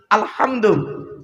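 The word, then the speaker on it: الحمد: আলহামদু এ গলার ভেতর থেকে হেটা উচ্চারণ করুন, হাই হুতি, হাই হাওয়াজ নয়।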